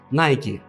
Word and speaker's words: Nike: как правильно называется найти ведь эта компания была создана филом на этом и названа в честь древнегреческих богини Победы ники поэтому более правильно произносится именно найти Куда вы пойдете магазин